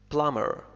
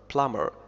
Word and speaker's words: plumber: plumber plumber، someone who fixed pipes.